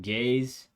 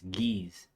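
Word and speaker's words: Ge'ez: let me pause quick when he said gays he wasn't referring to a people group or a sexual group and I think he actually mispronounced it it's geez it's an ancient Ethiopian language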